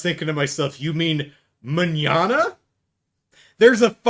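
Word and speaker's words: mañana: It does not rhyme with banana. Banana mñana or manana. It's not an English pronunciation, but yeah. Um, just because the uh words end in the same couple of letters doesn't mean they rhyme.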